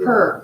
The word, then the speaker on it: Hare: one is for Christopher, is it Hare? How do you pronounce it? Her. I think it's like her. I didn't want to pronounce it wrong. I'm sorry, I saw the 2 R's. I'm like, is that her or is it different?